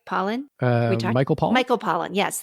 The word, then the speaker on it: Pollan: Richard Pollock did I say his name right Pollan Michael Paul Michael Pollan yes thank you yeah